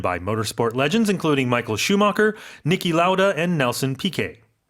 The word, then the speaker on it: Schumacher: Americans will even pronounce it Michael Schumacher. 슈마카. Schumacher. 이렇게. But I understand, I think it had German roots, but Michael Schumacher. 맞아. Maybe, 이게 영어가 Yeah. 사실 뭐라 그래야 되지? It's anglicized. Yeah.